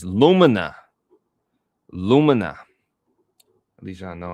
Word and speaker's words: Lumina: Pronunciation. Lumina. Lumina. It's Lumina.